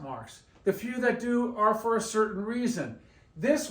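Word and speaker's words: dólar: on the o because we need to stress the O when we pronounce it dollar dollar and when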